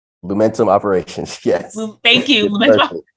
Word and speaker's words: Lumentum: So you're currently working at I hope I say this right, Lumentum. Lumentum operations. Yes. Thank you. Lumentum. Perfect. Was like, there's multiple syllables always get me.